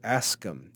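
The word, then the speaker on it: Ascham: he was a a school master named roger ascom a-s-c-h-a-m roger ascom and he published a book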